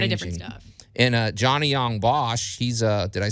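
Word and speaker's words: Johnny Yong Bosch: do a lot of different stuff and uh johnny young bosch he's uh did i say his name right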